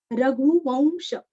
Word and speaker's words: रघुवंश: रघुवंश, यहाँ पे वंश नहीं करना, वौ वौ, व का उच्चार आएगा, अनुस्वार का उच्चारण व के जैसे। रघुवंश।